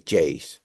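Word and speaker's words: Geyse: world class Talent like gays I think it's called he said gays in portuges in in Spanish we call it J and so but I think it's Jays that's the that's the right way to say so yeah very excited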